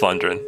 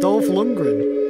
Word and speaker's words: Dolph Lundgren: the podcast dolph it's going to feature top london are you a fan of dolls his name wrong as well what's his name you say it dolph lundgren what did i say london something like that